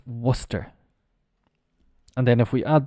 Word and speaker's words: Worcester: What do you think? Well, it's Worcestershire, of course, isn't it? Worcestershire. No, absolutely not. The pronunciation is Worcester. Well, we've got the Shire.